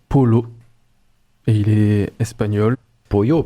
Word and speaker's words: Paulo: Pollo peut-être du coup, non? Ouais, Polo. Ça s'écrit comment? Il y a deux L? P-A-U-L-O. Ah donc Polo.